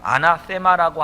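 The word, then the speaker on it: ἀνάθημα: 헌물로 번역된 헬라어 단어가 아나세마라고 하는 이 번데기 발음이 들어가야 됩니다.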